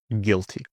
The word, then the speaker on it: guilty: Silent U often comes after G and before E. For example, guess, maybe also before I. For example, guitar or guilty. Guess, guitar, guest, guilty. And a silent W.